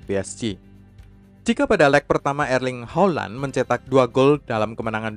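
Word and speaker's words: Erling Haaland: bagaimana coba caranya bootnya yang benar-benar Hai cara pronunciation yang benar agar ring Holland erling Holland erling Holland Holland sudah menyumbangkan 12goal untuk Dortmund pada musim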